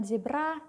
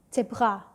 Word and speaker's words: Zebra: set contohnya ada zebra dibacanya bukan zebra tapi zebra zebra ingat er yang tadi Berasal dari mana dari sini Jadi cefra bukan zebra oke itu tadi adalah